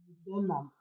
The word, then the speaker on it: molybdenum: Can you Molybdenum. pronounce it, please? Eh? Molybdenum.